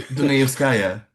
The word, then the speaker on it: Dunayevskaya: the you know, like people like I can't pronounce the name Raya Di Di Di Di Di Dunayevskaya.